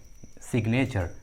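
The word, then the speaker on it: signature: देखिए इस English word में जी जो है एन के पहले आया है, फिर भी यहाँ पर जी का उच्चारण किया गया है, सिग्नेचर, ये एक्सेप्शन है, इसे याद रखना होगा।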